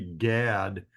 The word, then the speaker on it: Gad: so it's we say Gad but in Hebrew it's pronounced God god with a kets